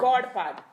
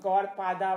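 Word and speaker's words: Gaudapada: Godpad. God. Godpad is the Sanskrit word. Godpad. G-A-U. G-A-U. Godpad. But you know how they put an A at the end? So they put Godpada bana diya, but it's Godpad.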